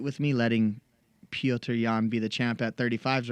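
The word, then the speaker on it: Petr Yan: Piotr Jan.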